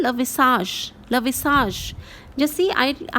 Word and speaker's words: visage: I have made it the sound of je. Je. The way we call it in measure. It is that way. So it is le visage.